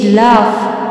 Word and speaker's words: laugh: LAUGH লাফ, এই শেষের যে জিএইচটি আছে ওটি দিয়ে উচ্চারণ করা হচ্ছে ফ, তাই এখানে যে শেষের জিএইচটা আছে ওটি একটি কনসোনান্ট এবং কনসোনেন্ট সাউন্ডও।